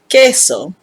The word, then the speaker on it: queso: combination q u so when you see the word queso you immediately know that you say the k sound here are some examples